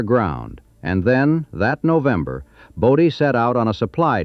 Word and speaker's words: Bodie: lettered a sign reading Bodie Stables, and the misspelling stuck. Whether the painter was careless or whether the townspeople deliberately adopted the new spelling to ensure outsiders pronounced it correctly, Bodie, not Body, is a question nobody ever settled.